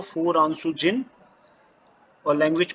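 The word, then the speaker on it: フランス: France को फुरांसू कहा जाएगा, फुरांसू। वहाँ के रहने वालों को फुरांसू जिन और लैंग्वेज को फुरांसू गो।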